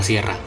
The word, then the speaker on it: siera: la Sierra de Songolica no podían pronunciar la palabra sierra, y por ende le decían Sierra.